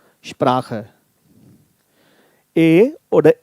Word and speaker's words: Sprache: Now, why we are pronouncing it long? Because CH is considered as the one consonant. It's not Sprache. Sprache.